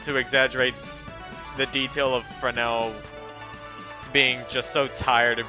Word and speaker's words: Fresnel: What is it, Fresnel? Also, they pronounced it Fresnel here instead of Fresnel, which I think is the actual pronunciation.